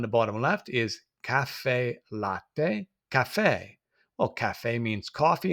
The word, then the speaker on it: latte: Latte, the A sound for the A, and the A for the E, latte, the pronunciation of the vowels.